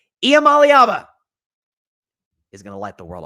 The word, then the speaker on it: Iamaleava: niiko Yama Al I'm gonna say it right IEM Alaba is gonna light the world up on fire